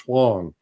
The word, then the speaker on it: Huang: It's WennieHuang, which is pronounced Huang.